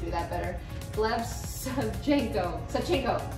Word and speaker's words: Savchenko: Savchenko. There you go, you have to say it like you're about to sneeze.